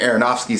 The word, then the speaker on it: Aronofsky: And the reason I keep saying Aronofsky so much because in the movie Mother, I messed his name up badly.